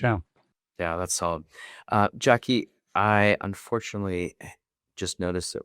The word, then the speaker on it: Jacqui: Right now, feel free to go find me on LinkedIn, Jackie. And it's spelled beautifully, so j a c q u i.